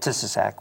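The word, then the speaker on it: Tissiack: of half doome the the mural is called tisac which is how the Native Americans pronounce her that was their name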